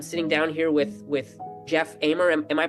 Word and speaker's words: Amer: I'm I'm sitting down here with with Jeff amer am I pronouncing your last name right Jeff yes yeah